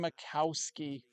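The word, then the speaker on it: Majkowski: Miracle Canon 85 steel Magic Man inspired by Don Macowski. That J is silent, folks.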